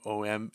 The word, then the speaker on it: Oeming: O-M, I always say his name wrong. Oeming.